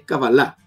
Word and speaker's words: cábala: palabra de manera correcta es cábala se acaba la cábala la cábala es una palabra aguda si se acentúa en la última sílaba y por qué quiero